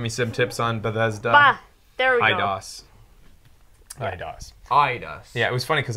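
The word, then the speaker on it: Eidos: some tips on bethesda idos yeah it was funny because i've always pronounced it or seen it as edios e-d-i-o-s but anyways cool story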